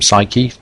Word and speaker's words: psyche: Psyche, or as the ancient Greeks would have pronounced it, psyche, means soul or mind.